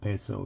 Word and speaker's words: peso: I'm from English but I believe that has more of a Latin pronunciation so the I would be an A so you have peso so you have a